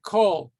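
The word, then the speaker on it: כל: hebrew sometimes uh this vowel instead of the ah is going to be pronounced more like an o for example the word call all that's pronounced as an o it's hard unless you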